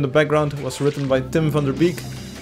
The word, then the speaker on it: Tim van der Beek: background was written by Tim van der Beek, which is his name pronounced in English, Tim van der Beek in Dutch.